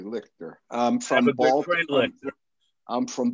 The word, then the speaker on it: Lichter: You pronounced my name correctly, Lichter.